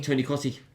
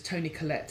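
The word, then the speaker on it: Toni Collette: is it tell me Tony Coty oh yes yes yeah that's not how you pronounce it doesn't really matter you've asked me and I've told you how is in my head I always it my I think it's Tony Colette it is exactly perfect we we're good for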